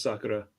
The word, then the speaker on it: Sakura: Um you because you call it Sakura. I call it Sakura. Maybe I'm Maybe I'm reading it wrong. I think it's just the pronunciation. The the proper pronunciation in Japanese is Sakura.